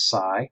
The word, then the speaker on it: psi: letter right here sigh psi is Sai remember Greek pronunciation the second consonant is the one we say so this is Sai likes ionic likes psychedelic and it's symbolized by